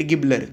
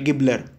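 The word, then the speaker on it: Gaebler: David ऑसबन आणि टेड गिबलर हे लक्षात ठेवा किंवा गॅबलर काय म्हणा ते म्हणा गिबलर खरं तर ते त्यांनी गिबलर म्हटल ते गॅबलर असं त्याच प्रोनन्सिएशन आहे पर्याय क्रमांक दोन आपल्या प्रश्नाच उत्तर आहे.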